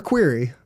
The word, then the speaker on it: query: I know most people pronounce it query, but that sounds vaguely offensive. So I'm going to go with query, which is another acceptable pronunciation. It's not like you pronounce querulous, querulous, but English is weird.